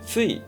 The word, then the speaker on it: TSUI: これが、え、 TSUI と書いてついです。